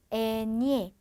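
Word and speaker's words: eñe: 즉 얘는 그냥 에네 담백한 니은 소리가 나고 얘는 에니에 라고 사용이 되는 거죠.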